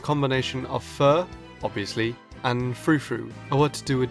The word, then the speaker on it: Furfrou: So when I first looked at this Pokemon's names, my first thought was Furfrou. Nice and simple. However, I then thought a little bit about the pronunciation when I saw that the second part of the name was spelt F-R-O-U.